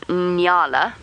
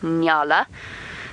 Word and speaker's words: nyala: between male and female Nala and for new viewers that is spelled n y a o a Nala the male are large